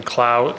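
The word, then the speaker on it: Clow: the record please State your full name and spell it out first name b-r-i-a-n last name klau c-l-o-w do you solemnly affirm that the evidence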